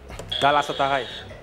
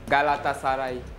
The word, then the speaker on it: Galatasaray: Galatasaray. C'est pas bien prononcé. Galatasaray.